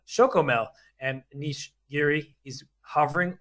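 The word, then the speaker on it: Chocomel: special brand in Holland shokomo oh sorry I I my apology is to all Dutch people nobody else could hear the producer you're correcting our pronunciation there I'm just gonna pretend it's a Yoo-hoo because it gives me you know flashbacks literally Big Daddy uh but no it's a shokomel and Niche Geary he's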